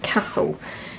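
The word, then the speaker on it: Kassl: I'm wearing a rubbery raincoat today from a brand that I believe is pronounced Castle. They're spelt K-A-S-S-L. I can't think of any other way you'd pronounce it. Castle, yeah, that's what I'm saying anyway.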